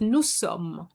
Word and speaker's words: nous sommes: So we're going to say nous, and that is nous sommes. Have you noticed that I haven't pronounced the final S?